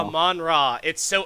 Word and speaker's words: Amon-Ra: Amon-Ra. Amon-Ra is 2 words. It's Amon and then Ra, and then his last name is Saint Brown.